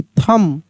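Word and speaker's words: thumb: टी एच यू एम बी थंब यहां पे जो है बी साइलेंट है।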